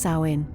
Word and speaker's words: Samhain: with the ancient Celtic Festival of Samhain pronounced sain this marked the end